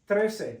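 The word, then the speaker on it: trece: do with a c 13 TR like a girl's name Trac Tracy but TR TR TR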